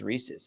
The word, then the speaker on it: Reese's: then I was like no it's Reese's and then sure enough it is Reese's it's spelled Reese's and it's Reese's Pieces